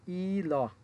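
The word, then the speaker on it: 일: নিচে আছে রিউল। রিউল নিচে যেহেতু আছে সুতরাং শেষের বর্ণ উচ্চারণ হবে ল। তাহলে উচ্চারণ হবে ই ল ইল।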